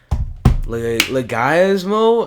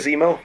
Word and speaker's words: Leguizamo: Leguizamo? I'm so bad at this. I know John it's like, Leguizamo. well, John Leguizamo.